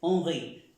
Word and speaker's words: Henri: Je suis, en el caso de presentarse, moi, je suis Henry, o je suis, como se pronuncia Henry en francés, Henri.